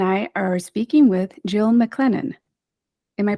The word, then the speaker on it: McClennen: today stina and I are speaking with Jill mclennen am I pronouncing your name correctly you are yeah good